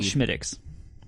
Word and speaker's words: Smithwick's: it's called Schmiddix. Really? That's how you pronounce it.